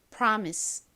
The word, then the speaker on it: promise: I 끝에 소리 나는 se 써 주시면 완성이죠 발음해 볼게요 promise promise 좋습니다 같이 써 보겠습니다 프 소리 나는 p